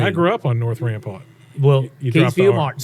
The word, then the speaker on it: Rampart: That's right, Rampart. Rampart. Street. I got made fun of for saying it like that. That's correct. That's the other thing. I grew up on North Rampart.